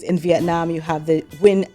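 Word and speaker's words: Nguyen: Vietnam you have the win Dynasty that's n g u ye n pronounced win and you also have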